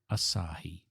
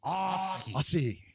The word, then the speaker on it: Asahi: bought to you from that famous Aussie brewer, Asahi. I think you're pronouncing it wrong, Jeff. I think it's Ai.